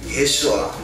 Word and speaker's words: 예수아: 우리가 성경에 예수 그렇게 되어 있지만 히브리어의 원래 이름은 예수아. 이게 발음이 슈자가 좀 길게 나오는 것 같더라고요. 예수와 그래서 조금씩 알아가는 거지.